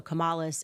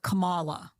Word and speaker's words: Kamala: So I remember her putting the emphasis on the second syllable. So it was like Kamala. Kamala.